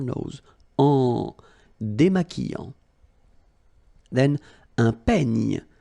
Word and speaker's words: peigne: Then un peigne. Final E, you don't insist on it. It's ny, the last sound.